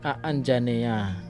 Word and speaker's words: Anjaneya: Sebagai putra Anjani, Hanuman dipanggil Anjaneya, diucapkan Aanjaneya, yang secara harfiah berarti lahir dari Anjani atau putra Anjani.